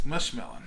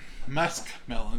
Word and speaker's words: muskmelon: going to be eating this mushmelon musk melon is the proper name you want to